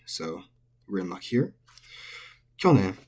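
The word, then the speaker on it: 去年: Kyonen is atamadaka. It is head high. Kyonen. Good to remember. And it's not kyonen. Remember how I've been talking about these long syllables. It's not kyonen, but kyonen.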